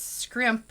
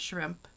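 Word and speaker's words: Skrimp: And it's Scrimp, like S-K-R-I-M-P, not shrimp. The first time I heard it, I thought they were just saying it wrong, but nope.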